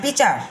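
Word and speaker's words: pitcher: আই পিতারি পিচার মাঝখানে টি এর উচ্চারণ হবে না পিআই পি সিএইচইর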